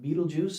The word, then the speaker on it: Betelgeuse: Betelgeuse is one of them, or Betelgeuse, depending on how you want to pronounce it.